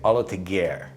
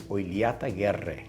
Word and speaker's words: Oillataguerre: So OLLATAGUERRE is how they say it here in Australia, but if you were to say it properly, it's OILLATAGUERRE. So you got to roll that R, and the two L's is a lia sound.